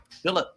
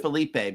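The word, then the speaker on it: Philippe: Phillip. It's Philip. It's pronounced Felipe because my my family hails from Canada, uh, Quebec.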